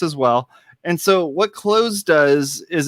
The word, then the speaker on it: Cloze: so I'm using I'm using this tool called clothes and it's spelled CLO ze okay and clothes calm and